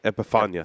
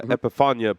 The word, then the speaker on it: Epifania: NL Premier Mundo epip did I say that right epep epia epia epiphania thank you I wrote it right I said it wrong uh epifania Perfecto um and I